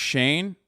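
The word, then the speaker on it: Shein: It's pronounced Shane.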